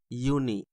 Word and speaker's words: university: not how it's written when you pronounce University you notice that it's uni it sounds like Y and Y is a